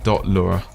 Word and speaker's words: Lua: language doesn't have it in capital letters It's pronounced Lura but uh yeah if you mention this in